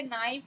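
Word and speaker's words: knee: तो जैसे कुछ तो ऐसी वर्ड मीनिंग होती है जो आपने सुन रखी होती है, जैसे नाइफ हो गया, नीड हो गया, नेक हो गया, नी हो गया, तो आप उसको पहले के को साइलेंट ही रखिए।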